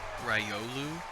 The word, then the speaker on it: Riolu: you can choose for that particular game was rylu ryolu is how you pronounce that riolu it's not like that particular pokemon is like